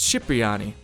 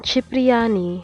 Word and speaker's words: Cipriani: he pronounces his name Cipriani. I'm Tony Cipriani, bitch. Tony Cipriani, remember that. To make matters even more confusing, the proper Italian pronunciation is Cipriani. Italian, Cipriani.